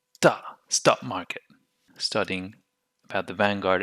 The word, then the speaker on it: Vanguard: would say venga vanga but we drop the d legion happens here too so we say vanguard and we will take